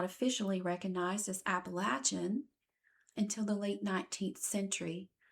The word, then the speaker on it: Appalachian: of this beautiful land, it hurts my ears and my heart to refer to them pronounce that way. So, from here on, I will be referring to them as I've always heard from birth, Appalachian.